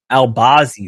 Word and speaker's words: Albazi: a rematch immediately that last night the gym albazi that's how you say his name Posse remember